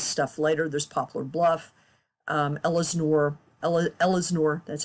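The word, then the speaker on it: Ellsinore: There's Poplar Bluff, Ellesnore, that's how you pronounce that, Mill Spring, Williamsville, Van Buren.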